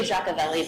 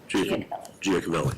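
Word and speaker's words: Giacovelli: It's really Jaci, but that's just too difficult to pronounce. So, we're just going to say that. Giolli.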